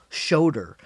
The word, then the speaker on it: Schoder: His name is Will Shoder, Will. Shoder is spelled Schoder.